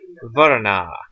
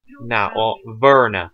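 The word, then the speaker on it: Wernarr: On to Icelinger Verna, or Werna, doesn't matter. Verna would probably actually be the correct pronunciation.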